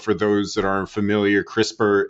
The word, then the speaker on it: CRISPR: Um, but for those that aren't familiar, crisper is spelled C R I S P R.